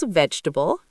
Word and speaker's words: vegetable: First was vegetable, 3 syllables, not 4.